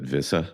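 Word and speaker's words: Wissa: and um you know very pronounces it visa all that time prob pronoun it visa yeah exactly and uh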